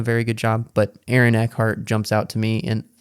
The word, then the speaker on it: Eckhart: Eckhart.